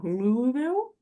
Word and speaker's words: Louisville: for pronouncing it wrong, Louisville, Close. Kentucky. We're almost Close. there. I always say Louisville and he's like, it's entirely wrong.